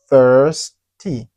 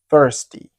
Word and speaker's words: thirsty: thirsty. ? La lettre T et H se prononce entre les dents.